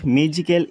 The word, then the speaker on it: magical: এতে বিট তোমালোকক দিছে notice that the word magical is pronounced with more force on the first syllable ঠিক আছে এই ম্যাজিক্যাল